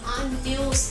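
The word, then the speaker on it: año: करता है न से जैसे वर्ड आएगा अनस अनस में एक्सेंट वाला एन है तो अनस पढ़ेंगे उसको जिसका मतलब होता है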